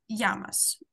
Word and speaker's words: llamas: Como te llamas? Теж будемо на наступному читати. Там у нас теж є дубле L, яке ми читаємо як Y.